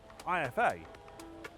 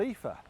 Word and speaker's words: IFA: But the only problem is I've been saying IFA all wrong. It's not called IFA, it's called Ether.